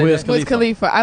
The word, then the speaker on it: Wiz Khalifa: Wiz Khalifa.